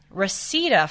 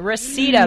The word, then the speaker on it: Reseda: from Alan for also from Rosetta California wow we Reseda pardoned me I said to Debbie last segment I had never heard of it so you've got to forgive me for mispronouncing it Reseda but Alan you want